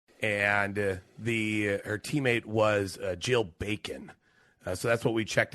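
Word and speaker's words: Jill Bakken: didn't realize that's how her last name was pronounced but I I'll Trust you on that the correct answer apparently is Jill bacon I would have said bachan but uh I didn't listen to this one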